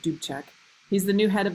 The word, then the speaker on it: Dubček: So the leader of the Czechoslovak Communist Party is Alexander Dubček, is how you say that, Dubček.